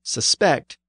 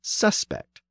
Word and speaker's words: suspect: The same thing happens with another new word that came in around this time, the verb suspect and the noun suspect.